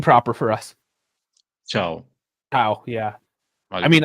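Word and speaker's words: Thiaw: I mean, I see Chow, and I'm thinking like a Chinese guy, CHOW. Yeah, I only know it because it was, because he said it a couple of times, like himself in interviews. Otherwise, I wouldn't have known the pronunciation as well. But yeah, it's Malik Chow. A different one. Exactly like the Chinese guy. Yeah, like chow mein noodles.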